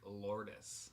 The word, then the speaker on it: Lourdes: It's Lourdes. Lourdes. Okay. At least that's the way she pronounced it.